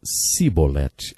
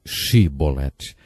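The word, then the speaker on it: Shibboleth: regiões do nosso país eles não conseguiam pronunciar o som ch e por isso diziam se bolette ao invés de che bolette jefté degolou 42 mil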